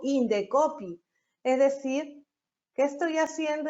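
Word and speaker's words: Indecopi: Igual sucede con Indecopy. Yo no digo INDSOPI, digo Indecopy.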